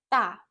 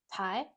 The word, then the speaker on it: 大: So that's pronounced in Chinese, da. The Japanese onyomi pronunciation is tai.